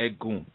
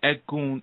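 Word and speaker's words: Egun: right cool so we have what's called the egg goon and econ is spelled e g u n okay and the egg goon are your ancestral energies now it's something really important to understand about a goon and the word edgun means bone okay it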